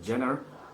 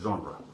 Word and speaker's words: genre: genre but the spelling is g-e-n-e-r-e something like jenner but the actual pronunciation is genre all right so why did i choose this